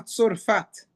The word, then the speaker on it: Tzorfat: lugar que se chama Tzorfat, parecido com como se fala hoje França, em hebraico fala Tzarfat, mas o nome do lugar é Tzorfat, no reino de Sidon.